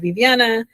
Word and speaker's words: Viviana: On Instagram, I'm Vivvana. Um, and it's my first name is spelled A Y I A N A and